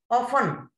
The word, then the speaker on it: often: Often, we say often, we don't say often, often, so T is silent.